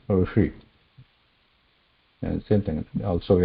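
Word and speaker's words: ऋषि: Same thing when we pronounce Rishi.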